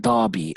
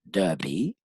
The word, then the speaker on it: Derby: here okay the Derby this one is pronounced Derby or Derby whatever you prefer okay the Derby which